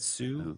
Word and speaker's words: Hsu: brian hassou okay hsu i don't know how you pronounce that sue i think the age is silent okay sue i'm just